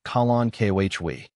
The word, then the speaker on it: Kalanchoe: Kalen Koi is pronounced colon kohhwei.